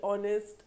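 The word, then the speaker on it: honest: ऑनेस्ट आर आर और ऑनेस्ट person. So वी put here N एन ऑनेस्ट person. ऑनेस्ट में H silent रहता है।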